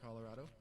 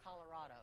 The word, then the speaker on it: Colorado: You know it's not Colorado, right? Just, right? Yes, ma'am. Colorado. That's how the locals say it.